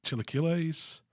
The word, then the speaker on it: chilaquiles: Tyler, you probably help me out because I'm going to murder the pronunciation of it, but chilaquiles?